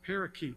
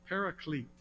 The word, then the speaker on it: Paraclete: this the term the Paraclete may have seen that used some people read that and they mispronounce it parakeet it's not parakeet Paraclete the Paraclete is the